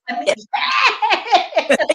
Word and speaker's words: Anise: She's also the CEO of Anise. Am I saying it right? Anise.